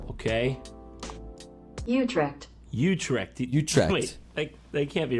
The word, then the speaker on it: Utrecht: do you say it I know it's not bad Utrecht that's that all right you're dead you tracked okay did you come again that's the one that's the official pronunciation sorry Netherlands gonna have